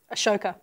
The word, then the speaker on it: Ahsoka: Ahsoka.